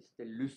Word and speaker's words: Stellus: Alors, le premier nous raconte qu'un nommé Fulvius Stellus, Fulvius comme ça se prononce et Stellus comme ça se pronce. S-T-E-L, S-T-E-2-L, U-S, Stellus.